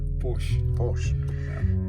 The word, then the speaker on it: Porsche: i know i know originally i'm from hungary and people call a porsche porsche but in uk they call it push porsche that's what it is pronunciation differences so we have